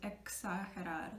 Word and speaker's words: exagerar: X sound like éxito, success, or exigir, which is demand, or exagerar, which sounds exactly like the English word exaggerate. But now we pronounce it exagerar.